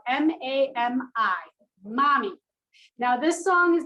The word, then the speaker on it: Mami: song you can always search it and it is spelled m-a-m-i mommy now this song is not about your mom